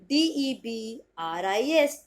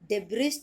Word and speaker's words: debris: First pronunciation S तो होगा आपका साइलेंट, क्लियर? तो आपका फर्स्ट प्रोनाउंसिएशन हो जाएगा डब्री, डब्री।